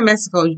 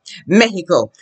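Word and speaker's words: México: here in spanish is pronounce the words correctly the way the Spanish would now you say Mexico you say Mexico speaking someone English okay in Spanish you should say what Mexico and your accent e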